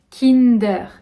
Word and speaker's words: Kinder: ikea je vais aller voir à ikea iker kinder länder vous me direz aussi si c'est assez proche de la version que vous connaissez ou pas mais on va dire kim d'heure kim d'heure kinder kinder kinder kinder kinder surprise